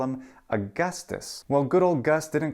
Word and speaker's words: Augustus: himself the AUST one and we call him Augustus well good old gust didn't call himself that in Latin instead it was Augustus Augustus and it has that pronunciation in both classical Latin as well as